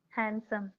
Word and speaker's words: handsome: Okay, so handsome without the D sound. Okay? Try to pronounce Okay, it. handsome. Very good, like that. Okay, D will always be silent in handsome, right?